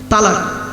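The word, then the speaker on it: طلاق: চলো, শব্দটা কিন্তু তালাক নয়, শুনে নিন, শব্দটা তালাক নয়, শব্দটা হলো তলাক। কি বললাম? তলাক, তালাক নয়।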